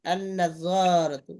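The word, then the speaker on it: النظارة: লামের উচ্চারণ হবে না, হবে হবে না, না নুনে তাসদিদ হবে। আন্না হবে, জারাতু আন্নাজারাতু জ টানদিদ হবে। আন-নাজ্জারাতু।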